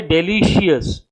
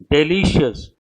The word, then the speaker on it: delicious: People mispronounce this word. People say delicious, precious, no. Precious, delicious, no E sound.